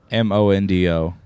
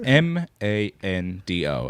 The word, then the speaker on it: Mondo: much Mondo Flex how do you spell Mondo m-o-n-d-o why he so Chris spells this m-a-n-d-o as in Mando I don't like the Mandalorian